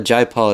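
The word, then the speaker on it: Jai Paul: artists that I'm not familiar with that a Jay Paul it spelled like j ai pa ul and he also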